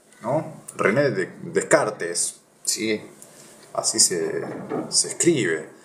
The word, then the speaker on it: Descartes: error de esto después vo a hablar de Kart no René Descartes Sí así se se escribe de car cerca de 2000 años después